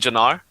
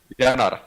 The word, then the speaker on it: Janar: Do you mean Janar? That's so different from my name is. It's How do you say it? Janar. Yanar. Yanar. Yeah, what? That's Yanar? better. Yeah, Yanar. Yanar.